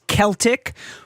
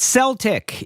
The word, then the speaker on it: Celtic: For years, English speakers pronounced this word with a soft C in all contexts.